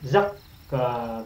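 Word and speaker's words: زكّى: Sedangkan wazan 3, huruf ain itunya ditambahkan syiddah, sehingga huruf pertamanya ditekan bacanya. Zakka, begitu.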